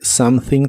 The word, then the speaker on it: something: La O de something se pronuncia como a, la e no se pronuncia. Y la th se pronuncia soplando entre la punta de tu lengua y los dientes de arriba.